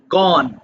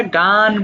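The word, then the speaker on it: gone: গো যাওয়া আমরা গো বলি না বাট শুদ্ধ হচ্ছে গো দেখো গো যাওয়া গো ওয়েন্ট গন এটা অনেকেই আমরা গান বলে ফেলি গান গাওয়া এটা কিন্তু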